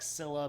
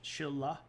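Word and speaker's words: Silla: is the Shila and I know it looks like Sila but you say it with an sh Chilla um and the the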